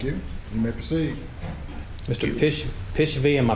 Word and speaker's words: Pishvaei: Pishvaei, am I pronouncing it correctly?